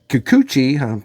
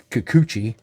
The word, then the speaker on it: Kikuchi: Kikuchi, pardon me as I begin to learn how to pronounce that name, anointed by Daisuke Harada, the